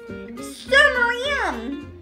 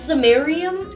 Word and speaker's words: samarium: it so this red liquid over here is summarium um it's pronounced samarium no if you're going to be my class